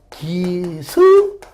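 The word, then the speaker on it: Gysbers: 원래는 영어로 기지버스인데 어떤 사람은 이거를요, 기지버스가 아니라 이렇게 기스버스라고 하는 분 있습니다. 근데 S 발음이기 때문에요. 기즈, 또 기스, 뭐 같은 말인데, 그래서 일반적으로 우리가 이제 기지버스를 하는 겁니다. 그래서 이것도 뭐 틀렸다고 보지 않습니다.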